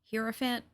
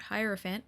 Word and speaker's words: Hierophant: I've heard a lot of people mispronounce this character's name. I've heard Hierophant, I've heard Hierophant, which is the correct way, and I've seen people stumble over it.